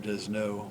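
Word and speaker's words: Desnos: uh Arts critic uh Robert desno or English pronunciation Robert desno is of France born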